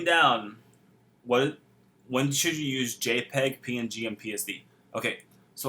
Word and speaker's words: JPEG: It can be .jpd or .jpeg.